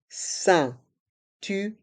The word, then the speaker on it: ceinture: Dans le mot ceinture, les lettres E, I, N se prononcent un, ceinture. Et le R reste en suspens.